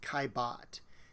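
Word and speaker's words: Caillebotte: name by the way his last name is pronounced kibot and he is a post impressionist artist the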